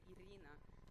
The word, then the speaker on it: Irina: and your name is irina am i pronouncing that correctly uh well you can use a russian accent and say idina can you do that